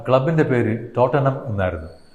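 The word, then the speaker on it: Tottenham: ആ ക്ലബിൻ്റെ പേര് ടോട്ടനം എന്നായിരുന്നു. ടോട്ടൻഹാം എന്ന് എഴുതുമെങ്കിലും അതിൻ്റെ ഉച്ചാരണം ടോട്ടനം എന്നാണ്.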